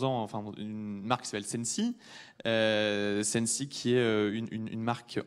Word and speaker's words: Sensee: Alors pour ceux qui ne connaissent pas encore Sensi, Sensi ça s'écrit S-E-N-S-E-E et ça se dit Sensi.